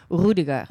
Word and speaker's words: Rüdiger: who do you like in German you would pronounce it who digger right correct but I